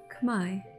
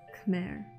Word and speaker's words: Khmer: Swasday, and welcome to the Khmer language. Yes, it is pronounced Khmer, not Khmer.